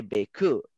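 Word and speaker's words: beaucoup: And then in French, sorry in advance, Prisha, you write bécoup and you say bécoup.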